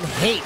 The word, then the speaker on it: Haight: I think it's John Haight, not Height. Oh. Yeah, John Haight, H-A-I-G-H-T. I hope phonetically I'm okay.